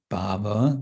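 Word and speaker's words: bhāva: And that has to be taken as a long A bhava.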